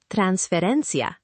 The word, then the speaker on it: transferencia: Transferencia, stress on the ren.